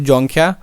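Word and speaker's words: Dzongkha: ये दोस्तों इसमें देखेंगे डी आपका साइलेंट है, तो जोंगख्या।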